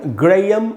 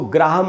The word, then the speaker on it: Graham: तो इसको पढ़ेंगे हम ग्रेयम, इसको ग्राहम नहीं पढ़ना है।